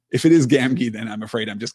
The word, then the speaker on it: Gamgee: to get back here my audio book pronounces the second G in Gamgee the same as the first Gamgee Gamgee oh I don't love